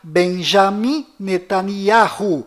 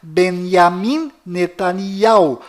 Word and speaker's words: Benjamin Netanyahu: bom volta no assunto fora de israel o nome deste primeiro-ministro é pronunciado benjamin metaniarro mas dentro de israel o nome dele é pronunciado benyamin netanyahu confira fora dentro e